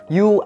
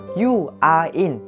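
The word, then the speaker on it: 유아인: viên, nam diễn viên điện ảnh nổi tiếng, You Are In. Đấy, chúng ta sẽ có phiên âm tiếng Việt mình đọc là Yo hay là Yo Are In, nhưng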